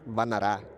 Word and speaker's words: Vannara: Then the Cambodian way to pronounce it is Vannara.